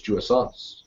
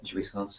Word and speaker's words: jouissance: as the other of the symbolic law prohibits jouissance. Is that how you say it? Jouissance, yeah.